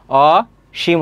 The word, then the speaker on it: অসীম: আরেকটা আছে সৃজনশীল এরপরে অসীম আমরা কি কখনো পড়ি যে অসীম সাহস না এটা পড়ি না অসীম সাধারণ উচ্চারণ সেক্ষেত্রে এখানে তালবস হবে আর উচ্চারণের ক্ষেত্রে দীর্ঘইকারে কোন ব্যবহার নেই সেক্ষেত্রে কি হবে রসকার হবে অশিম হবে তালবস অদ্বিতীয় খেয়াল